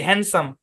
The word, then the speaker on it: handsome: হ্যান্ডসাম, তাই না? এই যে শব্দটা হ্যান্ডসাম, এখানে ডিটা সাইলেন্ট।